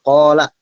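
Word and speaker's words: قال: Yang pertama itu qala, ko itu panjang ya. Ko itu panjang. Karena di setelah ko, huruf ko ada alif. Jadi 2 harokat gitu.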